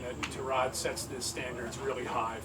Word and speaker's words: Tyrod: How are you pronouncing Tyrod? It's Tyrod, but I call him Ty, so I guess I'm doing it wrong.